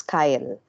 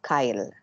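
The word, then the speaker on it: chyle: that creamy kyle sorry creamy fluid as kyle it's spelled as c h yym m e no kyle it's different from ky as we've discussed in the digestive system so it's called kyle okay c h y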